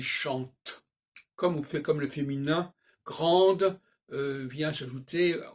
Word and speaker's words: vient: Alors, il vient, par exemple, il vient, on ne prononce pas le T quand il vient.